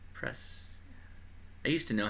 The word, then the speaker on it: Prescott: on that thing yeah only tourists pronounce it yeah I I'm sure what spread uh not Prescott it's pres I used to know